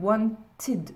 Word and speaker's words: wanted: il faudra dire I wanted. Je rajoute ED à la fin et ce ED se prononcera id.